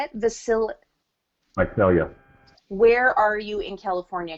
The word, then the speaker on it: Visalia: Visalia.